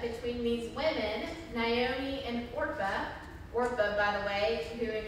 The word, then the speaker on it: Orpah: have known this was who or oprah was named after but they got the name wrong in the birth certificate and so she's supposed to be orpa but she's oprah instead so that's signed